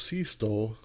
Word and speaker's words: Sixto: rookie six doliskano uh actually pronounced sea stole you know we've been saying that wrong all this time but anyway sixto loscano